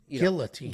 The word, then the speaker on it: guillotine: You pronounce the L. Guillotine.